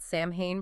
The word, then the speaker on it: Samhain: 5th century BCE, the Celts had Samhain pronounced S-O-W-N, apparently.